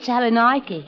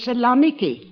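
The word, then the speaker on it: Salonika: Mine's at Saloni. Oh, excuse me, Mrs. Haggedy, but the correct pronunciation is Salamiki.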